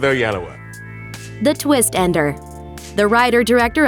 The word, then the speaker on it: Oyelowo: the increasingly popular interpretation that was established by Oprah Winfrey. She taught the nation how to do it. Let's stick with Oyelowo.